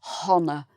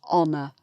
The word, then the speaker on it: honour: We don't say honour, it's honour. So an honour.